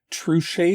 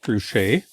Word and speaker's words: Truchet: But the latest diversions I got to the section on trus tiles. I think that's how you say it. It's a French guy. So it looks like trusche.